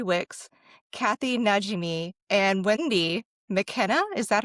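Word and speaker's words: Makkena: It has a stellar cast with Whoopi Goldberg, Maggie Smith, Mary Wicks, Kathy Najimy, and Wendy McKenna. Is that how you pronounce her name?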